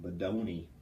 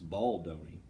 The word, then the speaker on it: Baldoni: But the stuff that I think is very strategic comes from Badoni. I think that's how you say it. Badoni? Baldoni. Sorry, it's Baldoni. Bald, which I'm not. Oni.